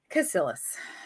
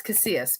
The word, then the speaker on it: Casillas: joining us today, Lou Casillas. So I'm saying it wrong. It's Casillas because I'm Southern and I like to say all the syllables because I'm hooked on Pahonics.